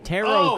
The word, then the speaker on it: tarot: Tarot card. Think of it as T-A-R-O. The T at the end is silent.